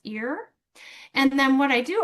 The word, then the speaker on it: ir: Usually that ir is pronounced ear.